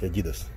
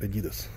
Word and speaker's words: adidas: anti ddos мужской adidas мы не говорим adidas adidas и nike русский вообще-то правильно произносить adidas англоязычные произносят adidas пацики 80 баксов кому